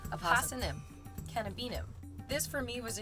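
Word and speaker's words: Apocynum cannabinum: aosm cannabinum I also really enjoy saying AUM AUM canab I thought that rhymed really well but then I found out it's pronounced AUM cannabinum this for me was a huge Discovery because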